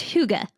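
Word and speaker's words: hygge: like holy H it's Huga holy Huga okay I know it's not spelled anywhere close to that but that's how you say it h Huga and homeschool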